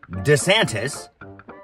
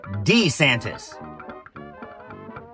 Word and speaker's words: DeSantis: with this name change it was DeSantis now it's D santis what the hell